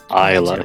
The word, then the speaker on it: Ayla: Is it Isla or Ayla? This was a debate yesterday. Spin kick? Does spin kick do more damage? Isla.